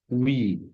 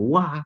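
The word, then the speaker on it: و: Nah, wi, winta, winte gitu ya. Nah, bacanya bukan wah, tapi wi.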